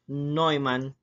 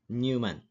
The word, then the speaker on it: Neumann: Architecture our lesson for today is about Devon noyan architecture Okay So this one here is pronounced as noan not Newman So what is Von nean architecture so in